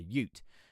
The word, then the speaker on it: ute: how you pronounce it but a ute as in like youth hang on I'll write